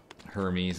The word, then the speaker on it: Hermes: Because it's like Leonidas isn't pronounced Leonidas. Hermes isn't Hermes, you know, it's Aphrodite isn't Aphrodite, I don't know.